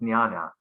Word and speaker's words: jnana: I mean, English speakers who see that, but it's actually pronounced jnana usually.